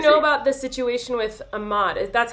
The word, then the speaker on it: Ahmaud: do you know about the situation with Ahmaud?